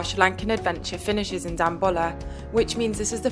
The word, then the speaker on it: Dambulla: Dambulla. Dambulla. Dambulla.